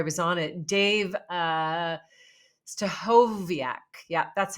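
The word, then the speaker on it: Stachowiak: even before I was on it Dave uh stovak yeah that's how you say it Dave stovak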